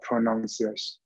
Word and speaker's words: prononciation: La prononciation. La pronunciation. So anyone ending with S-I-O-N-T-I-O, the sound is what? Sion. So we say la pronunciation.